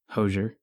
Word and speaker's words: Hozier: Hozier.